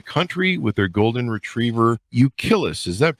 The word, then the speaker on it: Euclid: They now live full-time in an RV, traveling the country with their golden retriever, Euclid. Is that pronounced right, Dan? Euclid.